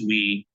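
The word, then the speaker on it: oui: u o UI and uh while that means we that it's pronounced we but the word means yes um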